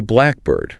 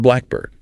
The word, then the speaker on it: blackbird: A hidden pattern dictates that the vocal stress almost always falls heavily on the first syllable. It is a blackbird, not a blackbird.